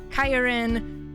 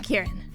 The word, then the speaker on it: Khiren: have heard i'm kieran it's pronounced ki ren not kyrin or kiren or a whole bunch